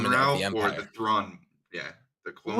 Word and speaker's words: Thrawn: But there's definitely gonna be a name drop to somebody that rhymes with Dawn. That rhymes with what? With Dawn. Thrawn.